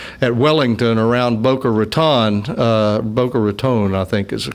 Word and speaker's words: Boca Raton: Boca Raton, I think, is the correct way to say it in past.